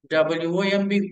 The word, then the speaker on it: womb: Whenever you find the letter MB, the letters MB at the end of any English word, the B must be silent letter. WOMB, womb.